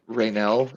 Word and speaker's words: Raynell: yeah ironing Cobalt as well uh for this it's spelled rainelle is the name he gave you r-a-y-n-e-l-l okay I've been doing Ren this whole time right now okay so Ray